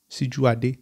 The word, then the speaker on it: Sijuade: is actually my language si dua de si duarte that's actually how it's pronounced dr josh joshua sijuardi